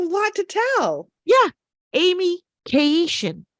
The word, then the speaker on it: Keyishian: Amy Keyishian. That's right. Keyishian. Four Keyishian. syllables. 4 syllables.